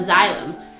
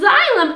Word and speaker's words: xylem: Upstream from a hollow tube that's called a xylm how do you how do you spell that oh yeah x y l e m and that xylm allows the water to travel Upstream up to